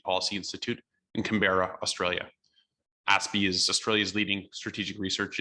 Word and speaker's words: ASPI: australian strategic policy institute aspie for sure some people call it aspi but it's pronounced aspy is australia's leading think